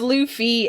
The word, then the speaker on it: Luffy: get massacred by fans it's pronounced luffy and they get some is it i know the fans get so mad if you mispronounce his name oh man i don't